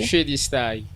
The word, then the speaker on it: Shadi Style: Le nom, ça s'écrit bien sûr en français Shadi Style. Ouais. Mais ça se prononce en anglais. Shadi Style.